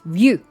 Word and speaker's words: Ryu: It's not Ryu, it's Ryu. Ryu. One syllable.